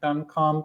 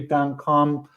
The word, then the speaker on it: Duncombe: It should be Duncombe with an E at the end. I guess it's French. The E is silent.